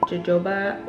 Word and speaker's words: jojoba: I'm gonna be using their Straight Outta Patient Smudge Proof Eyeliner with jojoba oil and aloe vera.